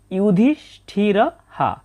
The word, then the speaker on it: যুধিষ্ঠিরঃ: সংস্কৃত ভাষাতে অন্তস্থ জ এর সঠিক শুদ্ধ উচ্চারণ হচ্ছে ই। যেহেতু অন্তস্থ জয় রসু রয়েছে তাই হবে ইউ। ইউধিষঠিরহা এবং বাক্যের শেষে যদি বিসর্গ থাকে তাহলে তার উচ্চারণ হয় পুরোহ এর মত।